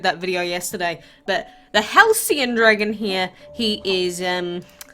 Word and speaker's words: Halcyon: to it before I came on here it's Halcyon alright alright that's what Google taught me I